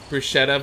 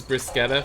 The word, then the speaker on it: bruschetta: of Italy or Europe, the term has been anglicized and is sometimes pronounced as bruschetta.